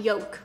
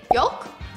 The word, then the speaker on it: yolk: thinking about it today i don't pronounce the l in yolk you're not supposed to are you yolk ew whatever i think it's silent egg yolk we need to separate